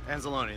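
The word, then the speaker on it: Anzalone: safety they also got a rookie linebacker Alex and Salone that's how you pronounce it yeah so they've they've got their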